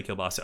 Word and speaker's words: kielbasa: Kolbasa is more Russian. Polish people say kielbasa.